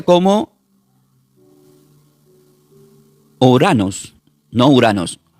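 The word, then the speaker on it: οὐρανός: Entonces, la palabra cielo del griego se pronuncia como uranos, no uranos o uranos.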